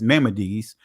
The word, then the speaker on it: Maimonides: uh includes commands or Maimonides, excuse me, for putting out mispronouncing the word. It's Maimonides. All right? I don't know why I just want to say Maimonides but it's Maimonides.